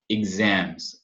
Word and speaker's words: exams: E exams, som de ig mesmo, né? Exams.